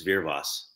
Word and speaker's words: Wyrwas: it right it's tough It's polish it's veros oh okay okay okay